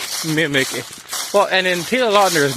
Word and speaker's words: Taylor Lautner: It's Twilight Taylor Lautner. I looked it up. That's the correct pronunciation. Taylor Lautner.